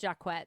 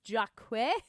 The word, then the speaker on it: Jacquet: A researcher I came across named Jennifer Jacquet and it is pronounced Jaquet because I was like is this Jaquch? No, I thought I'm doing it wrong. Nope, she said it herself. Jennifer Jacquet, uh, summarize it very succinctly.